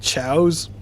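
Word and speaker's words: Choas: these little pets called chows and that was spelled chaos like c h o a s but they pronounced them chows and that was like a whole side story too.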